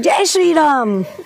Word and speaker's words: Jai Shri Ram: Say it like Jai Shri Ram.